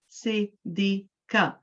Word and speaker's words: Siddiqa: My name is Siddiqa. So how many syllables do I have? Siddiqa, 3 syllables. If you say it in 2 syllables, it will be wrong. If you say it in 4 syllables, it will be wrong.